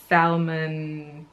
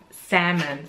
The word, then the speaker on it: salmon: a lot kind of Salman salmon sorry don't pronounce the AL I don't know why